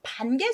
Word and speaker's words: 潘: 정 참고만 하세요음 뜨물 반 아까 말씀드렸어 여러 번 쌀 씻을 때 쓰는 뜬물 있데요 앞에다가 물을 쓰고 뒤에 차례 번을 써서 뜬물 반 번 발음이 반 돼서 조심하셔야 되고요이 강 이름 쓸 때